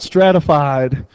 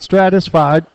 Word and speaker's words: stratified: makes sense it's called stratified stratified stratified this is a stratified sampling technique okay not stratisfied not satisfied it's stratified just one is so